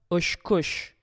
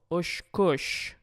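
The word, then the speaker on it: очкыч: Ощкощ. Ощкощ. Хоть во втором слоге и написана буква или «ы» по-русски, читается она также «о». Ощкощ.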